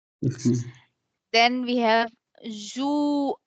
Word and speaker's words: juin: Then we have Juin, because IN is a nasal sound. So we pronounce it as Juin.